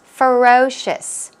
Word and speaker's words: ferocious: well what about ferocious ferocious ferocious stress those on the second syllable and as I mentioned